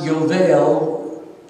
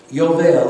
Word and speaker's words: Yovel: Now, the word Jubilee in Hebrew is pronounced Yovel. Yovel, everyone? Yovel.